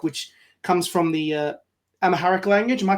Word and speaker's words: Amharic: with this book which comes from the uh Amaharic language. Am I pronouncing that correctly? Amharic Amaharic text which is darkness is a gracious guest.